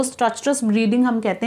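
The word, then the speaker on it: stertorous: 10 minute बाद क्या होता है, breathing less structures, please see the pronunciation, listen to it carefully, it is structures, ठीक है, कि उसकी जो ब्रीदिंग है वो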